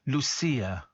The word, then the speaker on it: Lucia: Lucia wants to say her name is pronounced Lucia.